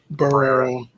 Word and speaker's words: Barrera: Barrera.